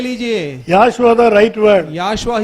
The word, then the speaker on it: Yahshua: मैंने कहा ये ओ जो है वो साइलेंट है। சைலண்டா இருந்தா वो साइलेंट है तो இப்போ இத வாசிக்க பார்க்கலாம். अब इसे आप पढ़कर बताइए। யாஷுவா ये याशुआ है।